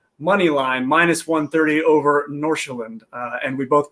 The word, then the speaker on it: Nordsjælland: And then we're going to close it out with the Danish Super League, Copenhagen money line minus 130 over Nordsjælland. And we both pronounced that right because I looked it up on YouTube ahead of time.